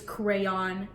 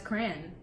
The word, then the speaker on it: crayon: my god no like you're an idiot it's crayon I was like right I was like maybe it's just an extra syllable but it doesn't need to be and I maybe just don't like where I'm from like we don't a Midwest thing like I don't know it's I've always known as cran and it's cran okay how do you